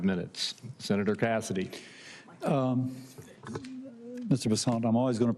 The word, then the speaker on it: Bessent: South Louisiana, and I'm going to pronounce it with a French Bessent as opposed to Bessent. That's what those folks in South Carolina do.